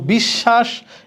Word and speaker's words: বিশ্বাস: কিন্তু বিশ্বাস, এখানে তালব্যস্ব 2টা। কারণ কি? শব্দের মাঝখানে বফলা আছে, যার সাথে আছে ওই বর্ণটা দ্বিত্ব উচ্চারিত হবে।